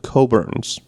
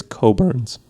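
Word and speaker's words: Cockburn's: brand of Portuguese poor called coborns but it is spelled c-o-c-k-b-u-r-n-s so he'd be like cockburns and I'm like no never say that it is coburns and he's like cockburns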